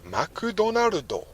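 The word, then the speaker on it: マクドナルド: basically saying apart from how you say it right in japan they say makudonarudo makudonarudodes all right cool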